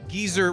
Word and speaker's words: geyser: Yeah, well, you know, geyser rhymes with Weezer, which rhymes with my lord.